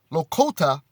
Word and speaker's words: Lakota: most beautiful examples is an excerpt from uh lokota and that's spelled l-a-k-o-t-a lakota prophecy and obviously this is an ancient